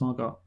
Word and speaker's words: Margot: sense more go because if there's a t at the end yeah so why is it why is it just why is that t there if it's not pronounced margot why is it why